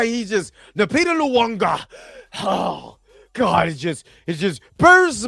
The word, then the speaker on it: Nyong'o: Her name is Nyong'o, not Nwanga. I don't know where Ryan is seeing the letter W in her name, what with it literally being on screen.